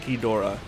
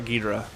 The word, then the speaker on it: Ghidorah: I pronounce it Ghidorah, not Ghidra. Oh, Ghidra, that's the word.